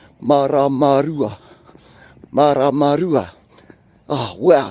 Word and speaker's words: Maramarua: Ma, ra, ma, ru, a. And then you just start saying it faster, and then it falls into place. Maramarua, Maramarua, Maramarua.